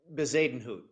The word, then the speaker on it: Bezuidenhout: Christian, how do you pronounce his last name? Bezadenhout.